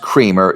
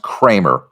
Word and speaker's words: Creamer: This is not pronounced creamer; it's pronounced Kramer.